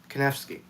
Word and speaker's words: Kanefsky: Not Soulcactus, but Kanefsky? That's 3 syllables, dude. K-Nef-Ski. Kanefsky. Is that what you're asking, Peter Lewis?